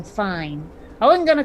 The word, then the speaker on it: Fiennes: I mean, I don't know if anyone remembers the actor Ralph Fiennes, but his name looks like it's spelled Ralph Fiennes. Pretty sure he's mispronouncing fine.